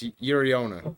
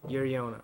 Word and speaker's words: Uriona: Well, you spelt it correctly. That's good. But it's Uriona. Uriona.